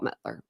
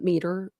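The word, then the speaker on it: Palmiter: against Diana and Paul Mettler. I know I say his last name wrong. It's Paul Meter, I think, but I say it Paul Mettler. I put an L in there.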